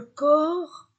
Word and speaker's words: corps: lettre S le corp je ne prononce pas les lettres P et S le corps le dos je ne